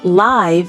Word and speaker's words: live: I live in Boston, but I'm performing live in Chicago this month, and I'm having the time of my life. Did you catch the different pronunciations? Live like give for residing, live like five for real-time performance, and life like wife for existence.